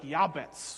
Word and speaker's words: Jabez: his mother named him jabez because he was born with pain born in pain and what we have in jabez in english is in hebrew pronounced more like yabbets or yabates i'm going to keep